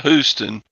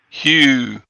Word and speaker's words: Houston: Not Houston. Hugh. Got to get the U in there.